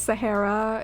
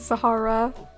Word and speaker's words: Sahara: I've heard both pronunciations, Sahara and Sahara.